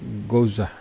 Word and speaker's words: Goursat: ya Ada matematikawan lain namanya goza itu bacanya goza ya Hai gozak bilang bahwa